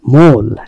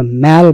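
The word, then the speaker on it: mall: মোল, এটা মল না, আসলে মোল অথবা ম্যাল বলা হয়, আমেরিকান উচ্চারণে ম্যাল বলা হয় নাকি।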